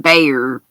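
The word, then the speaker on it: Bexar: in Baxter County or bear county is what it's called but it's spelled oh okay it's spelled pronounced Bayer but spelled b-e-x-a-r makes no sense to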